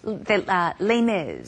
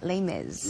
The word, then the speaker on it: Les Mis: Yes, Les Mis. The Les Mis. Uh-huh. 레미레자를 영어로 그렇게 발음하면 하더라고요. Les Mis 그냥 줄여서 말을 하죠. Les Mis. Yeah, Les Mis.